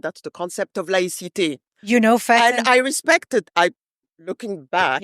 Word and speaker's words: Fatenn: So to start with, the pronunciation of the name always bothered me, to be honest. Of course. It's Fatenn. Yes, and that's why there is a double N in my name, by the way.